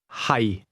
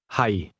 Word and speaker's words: 係: Notice the lowlevel tone in the word am or to be. Listen and repeat to practice your pronunciation. Hi. Hi.